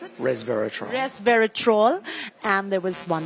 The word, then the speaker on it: resveratrol: Metformin, resveratrol, how do you pronounce it? Resveratrol.